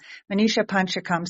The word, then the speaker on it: Manisha Panchakam: the name Manisha pakum Manisha pakam okay now I didn't know the emphasis on the second h word pakam Manisha panchakam so many of us